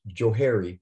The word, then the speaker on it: Johari: it's kind of cute it's known as the jahari window but actually could be pronounced joe harry would know why because if you go way back to when this was first created one guy's first name was joe joseph left and the